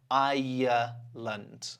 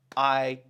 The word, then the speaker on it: Ireland: This one is actually, well, it's 2 syllables, but it feels like 3. Ireland. Okay, so let's break that up. Ireland. Ireland.